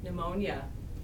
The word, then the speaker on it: pneumonia: Pneumonia. Isn't that funny the way it's spelled? Okay, that word is pneumonia.